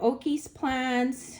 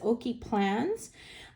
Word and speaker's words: Oki Plans: This came from Oki's Plans. And I keep saying it wrong, but it's Oki Plans.